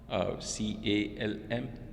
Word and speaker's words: calm: So is the case with the word calm, C-A-L-M. L has no business to be there, but still it's there in the word.